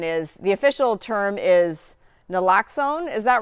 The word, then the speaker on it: naloxone: Yeah, so for people who don't know what Narcan is, the official term is naloxone. Is that right? Is that how you pronounce it?